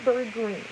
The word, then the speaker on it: Greene: My name is Greene. That's Green with a silent E at the end.